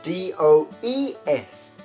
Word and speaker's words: does: an e s and the pronunciation the sound is a bit different okay so do changes